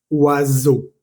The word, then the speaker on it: oiseau: La O y la I suena wa, como en la palabra oiseau, que significa pájaro.